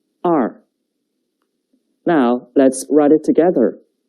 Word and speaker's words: 二: The pronunciation is 二. 跟我读. 二. 二.